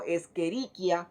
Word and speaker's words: Escherichia: Si decimos Escherichia coli, se especificaría como Escherichia coli, que es como formalmente o generalmente se debería de llamar. Generalmente cuando hacemos un examen, usted me tiene Escherichia coli.